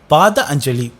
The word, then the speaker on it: Patanjali: Even though Patanjali is named used in Sanskrit, it is correctly pronounced as Pada Anjali.